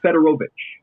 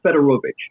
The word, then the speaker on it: Federovich: It is actually Tim Federovich. So, we actually went through a couple of different pronunciations with Tim to begin the year, but it is Tim Federovich.